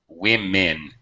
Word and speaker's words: women: and who mean okay actually this o sounds more like an I wi women sounds like two eyes plural women not women